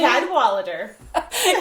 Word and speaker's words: Cadwallader: Cadwallader. Cadwallader.